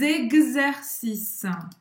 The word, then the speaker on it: exercice: Faire des exercices. Exercice. Então, esse X aí, ele tem o som de gaz. Gaz, tá? Como se fosse GZ. Exercice. E presta atenção que o S não vai se pronunciar.